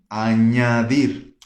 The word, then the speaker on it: añadir: Com ñ, añadir. Vocês estão entendendo essa diferença das pronúncias, né? Tipo NH, ñ, né?